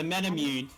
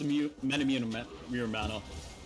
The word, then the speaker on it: Muramana: that uh um yeah you can never pronounce it the metamune yeah yeah i could it's always where it's muramana but no name getting